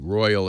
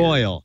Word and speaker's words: Royole: ROYOLE. Royal is spelled weird. Royal.